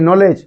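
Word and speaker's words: know: কে এন ও ডব্লিউ এল ই ডি জি নলেজ নলেজ এটা কে হচ্ছে কিনা বিলে কোন নলেজ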